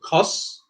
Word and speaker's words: cos: O has an O sound, so cos.